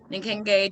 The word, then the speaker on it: Nkenge: Yeah, so it means, well, it's pronounced Nkenge.